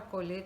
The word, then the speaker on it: colher: Não é que a palavra colher tem acento circunflexo, é só para você, para sinalizar, para você entender que a pronúncia desse é fechado, né? Então, colher, o som é fechado.